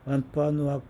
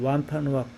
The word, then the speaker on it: Wampanoag: With the Wampanoag people, 완파누악 부족 사람들 on whose land 하면 그들의 땅에 우리가 바로 지금 서 있는 완파누악 부족 사람들 그런 얘기를 해요. 완파누악이라고 발음하네요. 맞죠?